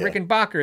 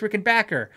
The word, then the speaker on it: Rickenbacker: rickenbacker you know right instead of rick and bokker it's rick and backer and how do you